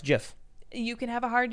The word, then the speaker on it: GIF: That's why it's GIF. You can have a hard G or a soft G. Right, and the guy who invented it said it's GIF.